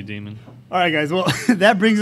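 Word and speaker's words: daemon: up in this Court did they convince you to pronounce it Damon to know it's always gonna be demon alright guys well that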